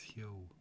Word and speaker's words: Huo: Oh, I've been saying it wrong. It's Hyo.